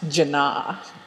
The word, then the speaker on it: Janna: school whose name was spelt j a n n a um but her name is pronounced jana oh she needs an